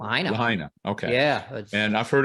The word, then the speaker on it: Lahaina: city and Brad what's up what's the proper pronunciation of that City Mount oh Lahaina Lahaina okay yeah and I've heard it I've heard